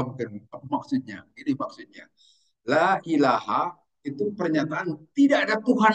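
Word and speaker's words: لا إله: Atau ucapan la ilaha illallah selalu kita bacanya la ilaha, tidak, padahal bisa saya bisa dibaca la ilahun, bisa dibaca la ilahin dan yang lain la ilahan, tetapi harus dibaca la ilaha, itu wajib karena ada makna di situ.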